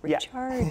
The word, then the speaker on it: Ricciardi: And it's a good reminder that that's how we pronounce it too. Ricciardi.